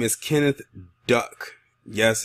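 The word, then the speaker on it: Duyck: This man's name is Kenneth Duck. Yes, his last name is Duck, but it's spelled D-U-Y-C-K. And this man is from Oregon, and he has admitted to having sexual contact with a horse.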